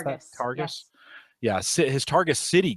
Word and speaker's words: Targus: Is that how you pronounce that? Targus.